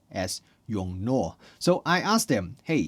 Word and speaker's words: YongNuo: And they told me, yeah, it should be exactly the same as the Chinese Mandarin because how they write